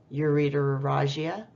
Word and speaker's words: ureterorrhagia: I'm just going to pronounce these for you. Polyuria, pyelonephritis, ureterorrhagia, extracorporeal shockwave lithotripsy.